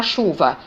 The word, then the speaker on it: chuva: u e q u por exemplo da palavra chuva eu tenho aí cinco letras né mas quando eu pronuncio eu só vou para anunciar quatro sons o ch pesar de ser duas letras mas representa o único som que é o som encher então